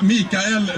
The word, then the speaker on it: Mikael: do my best and my name is pronounced mikael once a danish psychiatrist